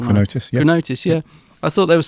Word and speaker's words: Chronotis: Chronotis, yeah.